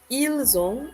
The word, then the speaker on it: ils ont: I'm saying the S because of the fact that the verb form begins with a vowel, right?